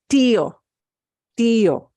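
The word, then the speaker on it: tío: word Tio yeah C we're separating out those two vowels instead of combining them into one distinct one sound where the two slip together exactly and get the same stress deal not but Tio Tio the E gets more punch and then we've got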